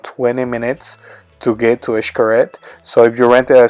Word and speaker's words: Xcaret: to keep these in mind Xcaret is not pronounced good it's called a curette from the Quinta Avenida is gonna take you roughly around 20 minutes to get to ash curette so if you're rented a scooter is gonna